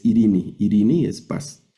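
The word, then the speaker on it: εἰρήνη: griego significa paz, Irene, pero la la lectura es Irini.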